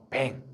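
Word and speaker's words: vin: 프랑스어로는 뱅, 이탈리아어로는 비노, 독일어로는 바인이라고 읽기도 해요.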